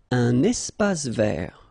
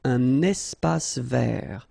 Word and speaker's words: espace vert: Un espace vert. First thing, you've got this little link between the two. Un espace vert. Final not pronounced, and then final T not pronounced.